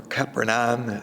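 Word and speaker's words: Capernaum: for in invitation now capernum is where the synagogue is um we have mentioned this on a number of occasions uh capernum or kaeron some would pronounce it was was an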